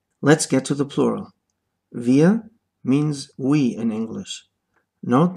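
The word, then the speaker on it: wir: The R at the end is not pronounced.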